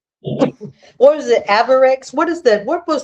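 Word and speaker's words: Avirex: Avarex. What is that? What was the uh Avir? Yeah. Really popular. Yes. I can't pronounce it. How you is it? Aarex. Yeah, it's Aarex.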